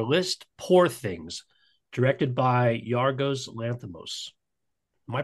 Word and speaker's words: Yorgos Lanthimos: All right, we're going to move on to the fourth film on our list, Poor Things, directed by Yorgos Lanthimos. Am I pronouncing his name right? Yorgos Lanthimos, yeah.